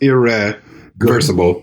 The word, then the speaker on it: irreversible: Irreversible. Yeah. Okay, so it's irreversible? Almost. Irreversible. Sible. See, you did an A, and it's an I.